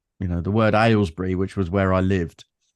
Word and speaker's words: Aylesbury: lessons because my London accent meant that I pronounced things like, the word Aylesbury, which was where I lived.